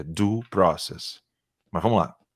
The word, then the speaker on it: due process: É due process, é assim que se pronuncia, tá? Ele não sabe pronunciar, é due process.